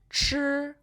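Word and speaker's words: 吃: To eat in Chinese is chi. Repeat after me. It's the first tone, so be careful, okay?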